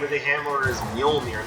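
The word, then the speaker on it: Mjölnir: spelled out for you, the J is pronounced like a Y. Kind of like how in Spanish, the two L's is typically pronounced with a Y sound.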